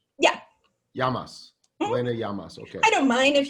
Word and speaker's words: Llamas: name is it pronounced yamas it's like spanish yeah yamas okay i don't mind if you want to call me llamas i mean uh but